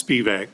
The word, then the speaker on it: Spevacek: We say it's Spevak, Spevak? not at all the way it's spelled.